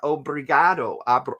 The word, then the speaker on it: Obrigado: Brazil o um how do you say it Obrigado Obrigado Obrigado thank you thank you thank you